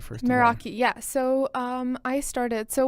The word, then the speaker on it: Meraki: Am I pronouncing it right first? Meraki, yeah.